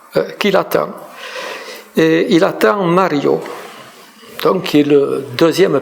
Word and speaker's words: Mario: Alors j'attendais quelqu'un, un homme, une femme, j'attendais Mario, à prononcer la française Mario, à l'entrée de la galerie Rive Gauche.